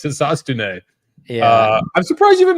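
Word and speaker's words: Hisatsune: That's the correct pronunciation. And Kobe calls him Hotstone. It's not Hotstone. It's Hisastune.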